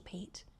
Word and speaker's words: Pite: Crystal Pite, you know, it's Crystal Pete. Crystal P. You She's an amazing BC choreographer. Oh, cool. Incredible. And I always say her name wrong and I've said it wrong so many times that I just continually say it wrong.